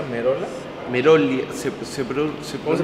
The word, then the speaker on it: Merolla: Merolia. ¿Cómo se pronuncia? Merolia. Merolia. Sí, Merolia. Igual en italiano, como es italiano, es Merola.